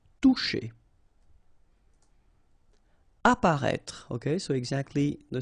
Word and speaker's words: Toucher: Okay, remember you combine this O and U, you get the sound OU, and then C and H, sh. Toucher.